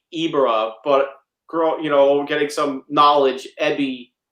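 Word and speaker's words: Ebirah: Is it Ebera or Ibera? As a kid, I would say Ibera, but getting some knowledge, Ebi is shrimp in Japanese. Even though, so I know it's Ebera, but I would say Ibera.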